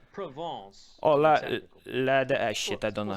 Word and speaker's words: Provence: We're from France, so it's Provence.